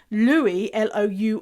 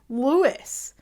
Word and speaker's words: Louis: It's spelled Louis, but they pronounce it Lewis. And so Louis, Louis, the UK, we would say that's Louis. But Canadians, Americans, for people from the States, say Lewis.